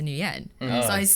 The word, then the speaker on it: Nguyen: i went to school so growing up i just went by new yen like i still say nien and then like moving